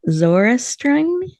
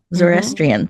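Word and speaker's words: Zoroastrian: Zorestron, I don't think I did that quite right. You're almost there, Zorestrian. Yeah, Zorestrian, thank you.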